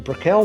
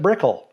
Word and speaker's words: Brickell: Jim pronounces it Brickell. Edward John Brickell. We visited E.J. Brickell's great-great-granddaughter, Iris Cantlon, to ask her about the name. Iris is also Jim Brickell's sister. That's always been a question. My grandparents pronounced it Brickell.